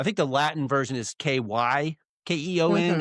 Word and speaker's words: Kykeon: and the Greek is Mm-hmm. Kukeon. Of course, in the Greek, with the Greek alphabet, it's not the English alphabet, so it's like, I think Right, you can say it right. either way, Kykeon or Uh-huh. Kukion.